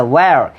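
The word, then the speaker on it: where: এটা হোয়ার না, এটা ওয়ার। এটা হোয়াই না, এটা ওয়াই।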